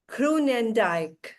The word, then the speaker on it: Groenendijk: Here we welcome Kunandike. Welcome. Thank you Shalini. And so well pronounced my name.